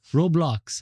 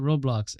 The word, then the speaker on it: Roblox: you opened up, for example, like through a Roblox, how you say it? Roblox app.